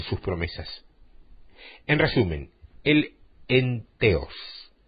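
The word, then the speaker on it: entheos: que la palabra entusiasmo deriva del vocablo griego en teos se escribe e n t h e o s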